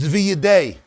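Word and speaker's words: וִידֵי: Here it's read as V'yidei in the plural, the hands of a person under the wings.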